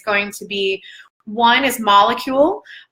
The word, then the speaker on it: Molekule: The top two things that I highly recommend is going to be, one is Molecule. Molecule, it's spelled Molekule.